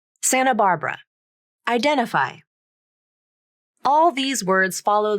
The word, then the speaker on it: Santa Barbara: by a vowel and the T sound disappears from the pronunciation native speakers don't always